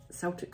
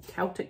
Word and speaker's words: Celtic: There are so many products out there, and I've mentioned, you know, the Celtic salt or Celtic salt, depending on how you pronounce it, provides you the minerals for your body.